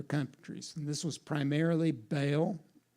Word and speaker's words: Baal: gods from other countries and this was primarily ba it's actually pronounced Baal but if I said Baal no one would know what I was talking about so but it's actually ba all and Ashira or sometimes called ashth now Ashira